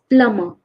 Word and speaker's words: plumber: mistake here it is plumber plumber plumber the B is silent usually if there is a b after an M it is silent like climb we don't say climb